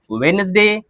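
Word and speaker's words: Wednesday: बात समझ में आई तो ब्रिज, सैंडविच, वेडनेसडे, हैंडसम। बात समझ में आ गई? यहां पे क्या होता है? डी साइलेंट होता है।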